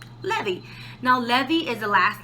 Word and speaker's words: Levi: And how do you say Levi in Spanish? Levy.